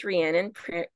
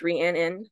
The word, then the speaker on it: Rhiannon: about me is my name is ranan pronounced ran in um or people call